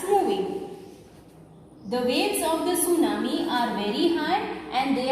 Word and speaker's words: tsunami: Here in the name tsunami, T is silent.